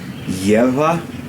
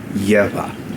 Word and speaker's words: geƀa: But either way, gebyā. That barred B is a bilabial voiced fricative, so it's a V sound, but if you're having trouble pronouncing the V sound, just say gebyā, and it's close enough.